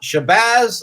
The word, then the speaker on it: Shabazz: Now, Shabazz like jazz, right?